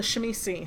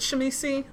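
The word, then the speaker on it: Tzimisce: I pronounce it Shemisi, because that's how my old DM pronounced it.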